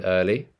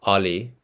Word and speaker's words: early: Can you hear the in early? No, it's early. It's not Ali. It's not Ali. Early. It's not Ali. It's early.